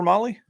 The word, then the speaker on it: Mahle: And for those podcast listeners, Molly is spelled Mahle.